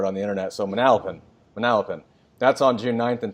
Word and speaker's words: Manalapan: So Manalapan.